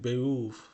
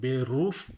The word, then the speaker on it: Beruf: লক্ষ্য করুন আমি কিন্তু এটার উচ্চারণ বেরুফ পড়ি নাই, কিন্তু জার্মানিতে আর এর উচ্চারণ প্রায় হয় না বলতে গেলে, তো ঠিক সে কারণে আমি এটা কিন্তু বেউফ পড়েছি, মাইন বেউফ।